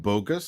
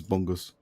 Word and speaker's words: Bungus: It's not bogus, it's Bungus. It's Bungus. Okay, LGT it's not humongous, but Bungus.